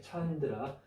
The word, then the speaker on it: candra: 읽을 때는 이제 이 뒤에 있는 처음의 발음이 정성으로 가서 찬으로 읽으면 더 쉽습니다. 이렇게 찬드라.